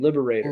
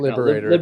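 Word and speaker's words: Liberatore: Liberator. Liberator.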